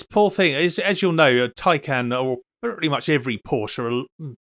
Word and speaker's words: Taycan: stuff some poor Porsche takan taan pronounce it how you wish looks like it's been opened with a can opener if if you want the pun uh this poor thing as you'll know tyan or pretty much every